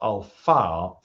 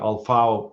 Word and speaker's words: Al-Faw: But after the second battle of Al-Faw, I don't know how to pronounce that. It's F-A-W, Al-Faw.